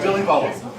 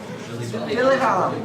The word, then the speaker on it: Villivalam: It's Villivalam, right? Close. No. Is that wrong? No, you're pretty much right. What is My family disagrees on how to pronounce it. So, Villivalam. Villivalam.